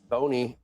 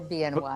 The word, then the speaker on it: BNY: Alicia Lavine, head of investment strategy and equities at Bony. No, wait a minute. It's BNY, but it's Bimo. BM You pronounce Bimo, right? But we're BNY, but you're not Bony.